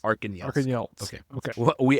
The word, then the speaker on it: Arkhangelsk: Well, the G is pronounced like a Y, but otherwise, yeah. Arkhangelsk. Arkangelsk.